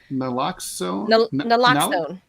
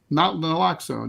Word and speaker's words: Naloxone: It's not really known why this dropped so fast, but experts say that I always have a problem pronouncing this. Naloxone? Naloxone, yeah.